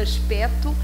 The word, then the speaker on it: aspecto: Mas, por exemplo, aspecto, aqui não se pronuncia o C etimológico e antes do acordo ortográfico escrevíamos o C.